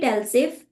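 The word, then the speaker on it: elif: to write LF but we call it LF but whenever you are writing LF in Python you need to spell it e l i f okay and just look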